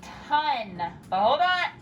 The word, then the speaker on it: ton: sound is gonna be ton ton i have a ton of work to do ton ton is a thinking sound we have to think tan to spell it right but we say ton because once again we're